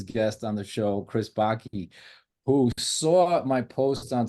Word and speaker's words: Backe: So I'm Chris Backe. It rhymes with hockey, and the first time you see it, it's just Backe, and you go, "How do you pronounce that?"